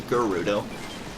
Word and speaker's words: Gerudo: I sometimes say Gerudo. Like, that's my usual go-to, even though it's officially Gerudo. Pronounced by Urbosa, you know.